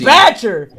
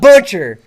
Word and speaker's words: Batcher: badger it's batcher my name is batcher not butcher i'm sorry but i